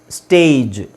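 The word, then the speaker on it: stage: ಮುಂಚೆ ನಾನ ಏನ ಹೇಳಿದೆ ಕೊನೆಯಲ್ಲಿ ಜಿ ಬಂದ್ರೆ ಅದನ್ನ ಗ ಅಂತ ಹೇಳಬೇಕು ಸೋಎಸ್ಟಿಎಜಿ ಸ್ಟ್ಯಾಗ್ ಎಸ್ಟಿಎಜಿಇ ಸ್ಟೇಜ್ ಪಿಎಜಿ ಪ್ಯಾಗ್ ಪಿಎಜಿಇ ಪೇಜ್ ಸೋ ಇದು ಈತರ ಬರೋದಿಲ್ಲ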